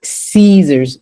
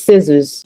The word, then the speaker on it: scissors: It's not Caesars. It's scissors. Why is a short vowel, teacher? Tell me. It's a short vowel because there is double S.